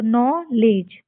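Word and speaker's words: knowledge: यह डी जी आया है तो डी को साइलेंट करके लेज तो नो लेज यह ऊपर लिखा भी हुआ है नो लेज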